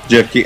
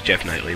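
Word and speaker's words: Geoff Keighley: Jeff Keighley. I can never pronounce his name. Yeah. I always thought it was Jeff Knightley, but whatever.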